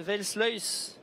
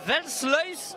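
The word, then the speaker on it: Versluys: En ce Welsluis Arena, je ne sais pas si je le prononce bien. Nicolas qui est à côté de moi qui rigole de mon accent. Le Welsluis Arena. J'oublie peut-être un R quelque part, en même temps c'est pas facile. R-S-L-U-Y. Pas évident de prononcer, mais allez, 3000 personnes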